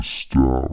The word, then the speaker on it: stat: The stat rhymes with cat.